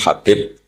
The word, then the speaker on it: Habib: Ada yang nulis Abi Abdurrahman Habib Asulami. Itu di harakatnya kitab itu ada yang nulis. Tapi yang benar Oh, nggih. Yang benar itu bacanya habib.